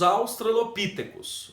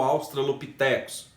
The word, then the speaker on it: australopitecos: são os registros sobre os australopítecos ou australopitecos. Essa pronúncia ela é divergente, né?